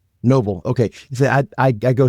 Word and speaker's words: Noval: But before we do, I want to introduce our guest who is Novala. Did I get your last name right, by the way? Cousin of Noble. Yep. Noble.